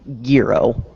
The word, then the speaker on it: gyro: Well, no, it's not pronounced gyro. It's pronounced like girro.